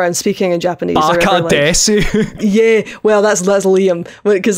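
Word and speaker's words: です: You don't pronounce the su in proper Japanese.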